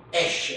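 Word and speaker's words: אֵשׁ: l'ultima lettera in donna, viene fuori questa parola qui, esce, si legge, sapete cosa vuol dire esce?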